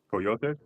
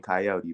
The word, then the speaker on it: Coyote: reason I had a how do you guys say his name? Coyote. Coyote, because I'm used to saying Coyote, but I uh, mean, that's English, yeah.